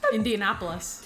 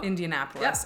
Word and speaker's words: Indianapolis: Indianapolis. Oh, I was off. Indianapolis. There you go. Indianapolis.